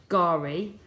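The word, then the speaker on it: K'gari: would spell it so that's Kagari remember I said it was pronounced gari island okay because it is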